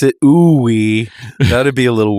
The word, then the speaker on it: Ooui: so it's a pun it's in another language pronounce it we thought it'd be a little weird I think